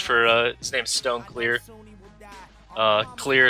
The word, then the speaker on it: Cleere: Clear is spelled C-L-E-E-R-E.